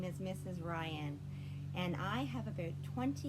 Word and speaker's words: Ryan: gonna play a game my name rhymes with lion lion but it starts with an r my name is mrs ryan rhymes with lion my name is mrs ryan and i have about